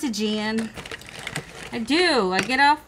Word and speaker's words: Aegean: nice the aegean blue i know how to say it i just want to read it as i always say adrian i know it's a jan i do i get